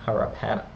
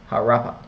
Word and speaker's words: Harappa: which were Mohenjo-daro and harapana harappa that's mohenjo daro and harappa pardon me from my pronunciation these cities were characterized